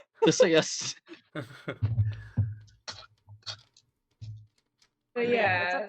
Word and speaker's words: Theseus: Theseus.